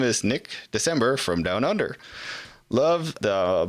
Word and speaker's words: Dicembre: Nick December, I think, but it's spelled Dicembre.